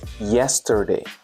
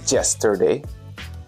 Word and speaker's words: yesterday: Another word would be yesterday. Not yesterday.